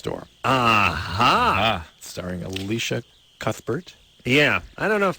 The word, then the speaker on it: Cuthbert: I think it's sad I think you don't do the thought like thank you it's it's like Cuthbert oh really just I don't know I don't know if they the H is silent I know she the